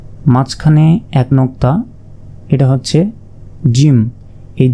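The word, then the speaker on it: ج: এক নুক্তা এটা হচ্ছে জিম এই জিমকে চার আলিফ পরিমাণ টেনে পড়তে হবে অর্থাৎ অর্থাৎ চার সেকেন্ড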